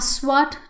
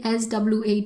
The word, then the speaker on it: SWAT: in front of that a SWAT team you will never hear anybody say sw at team but they will say SWAT team.